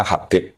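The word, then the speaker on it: حبيب: Itu di harakatnya kitab itu ada yang nulis khubab. Tapi yang benar Oh, nggih. Yang benar itu bacanya Habib.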